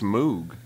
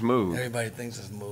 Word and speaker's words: Moog: funky I think it's Moog it smoked is it mo yes is it really yeah everybody thinks it's move yeah I mean that's what I mean that's how it's spelled yeah why wouldn't you